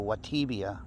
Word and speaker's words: Vtuvia: me and i guess the b is pronounced as a as a w so watibia something like that i think i'm still